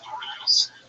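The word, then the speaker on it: Norah: I think you said Noah. It's Nora.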